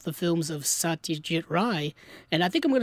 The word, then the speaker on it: Ray: And I'm like, okay, if that's the way it's pronounced, that's the way I'll pronounce it. And so I'll start saying Ry from now on, but what I'm getting at is that his cinema isn't Bollywood cinema.